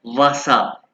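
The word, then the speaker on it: Wasser: और ये क्या है वासा इसके जम वाले प वासर इसको आप कहना वसा वसा वाटर वसा और ये मिल्क मिल्क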